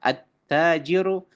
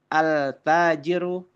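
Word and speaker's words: التاجر: Attajiru maka tidak boleh dibaca altajiru al tsau tidak boleh teman-teman karena itu adalah huruf-huruf syamsiah tayb.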